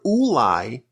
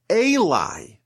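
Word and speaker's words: אולי: The word ulai, when it's spelled this way, can also be read as elai, meaning to me.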